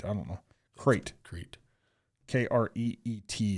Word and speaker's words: Crete: Kreet is how it's pronounced. It's spelled Crete, but it's pronounced Kreet.